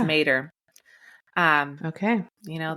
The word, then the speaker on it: Matter: It stars Niall Mater, even though his last name looks like Matter, but it's not. It's Mater, like the truck.